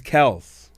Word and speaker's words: Kelce: you know that Travis Kelsey doing one of the Super Bowl pressers just all of a sudden announced that the name is Kels but no one's ever honored it I remember that but